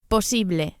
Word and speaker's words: posible: Posible. The second syllable, the E, is accentuated. Posible. And the final E sound, as always in Spanish, is a pure vowel, not A. Don't say posible, but posible.